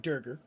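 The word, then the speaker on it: Duergar: It's not Durger, Dark Dwarfs. That's how I pronounce it.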